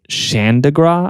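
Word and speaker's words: Chandigarh: They had this uh uh this capital city that that was planned capital city uh called Xandigra I believe is how you pronounce it and they were like build the whole thing.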